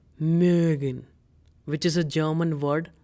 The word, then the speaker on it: mögen: Now pause this video and try to pronounce it. It's called mögen, which is a German word for to like.